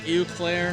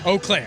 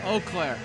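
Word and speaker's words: Eau Claire: I'm going to mispronounce the college. I believe it's Uclair. Oaklair. Oaklair.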